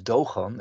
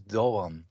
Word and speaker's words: Doğan: It's not a G. It's actually a non-silent one. So, for instance, the name Erdoğan. So it's Doğan, but actually also our lecturer Aynur Doğan is spelled this way. So it's not Mrs. Doğan. It's Mrs. Doğan.